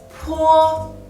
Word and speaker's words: po: The second one is po, po. Same as bo. Po is a bilabial and plosive initials, but the only difference is that po is aspirated.